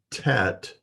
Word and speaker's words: Tet: The next letter is TET. It's pronounced T as in toy. It's not the only letter that will have the T sound, but this is one of two letters that has the T sound.